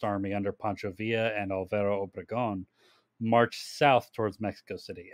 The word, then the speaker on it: Obregón: time, a constitutionalist army under Pancho Villa and Alvaro Obregón marched south towards Mexico City.